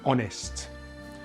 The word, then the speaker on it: honest: Sometimes the letter H is silent at the beginning of a word. These are usually French borrowed words like hour and honest.